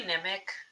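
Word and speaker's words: Nemik: I say Nimic like the way he said it the second time. That's how I say it.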